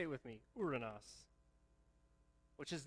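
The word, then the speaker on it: οὐρανός: with me the word heaven in greek is pronounced uranus say it with me uranus which is not very fun to say the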